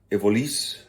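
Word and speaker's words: Evolys: uh FN evils respectively the evolis that's I think how the belgians pronounce it the Evis uh is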